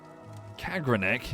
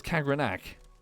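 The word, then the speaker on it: Kagrenac: Kagranek. Is that how you say it? Hang on, what did it say in the book? What did I read it as? Construct Kagranak. No, it's Kagranak.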